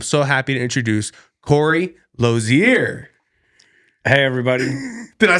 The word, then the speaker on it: Losier: Actually, yeah, I like the kind of the flair you put on it, and everybody says it different, but the actual pronunciation is actually Losier. So Losier.